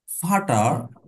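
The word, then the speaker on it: Vater: 12 number rules দেখেন হাউ থাকলে আবার এফ এর মত উচ্চারণ হবে। শব্দ যদি ফাউ থাকলে এফ এর মত উচ্চারণ হবে। ইংরেজিতে ইংরেজিতে এফ এর মত উচ্চারণ হবে। ডাইরেক্ট ইংরেজির যে এফ আছে এফ এর মত উচ্চারণ হবে। যেমন ফাটার ফাটার ফাটার মানে বাবা।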